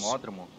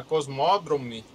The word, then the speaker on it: Cosmodrome: Algum nome em russo? Cosmódromo? Não, é Cosmodrome. É Cosmodrome.